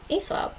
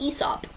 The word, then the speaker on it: Aesop: because we read poems by ASAP uh which is I'm sure everyone knows by now actually pronounced ESOP so that's been a